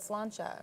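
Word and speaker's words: sláinte: And you said but some cheers, of but you it should have said slancha, right?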